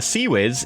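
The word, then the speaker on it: CIWS: So a Sea Whiz is a close-in weapon system, pronounced Sea Whiz.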